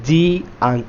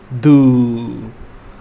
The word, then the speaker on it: do: If we see the word do, it's spelled with D and O, but it's pronounced oo, do.